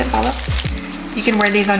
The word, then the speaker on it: Bala: That's how you say it, Bala.